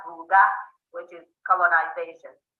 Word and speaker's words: Ruga: Yeah, it's actually pronounced Ruga, which is colonization.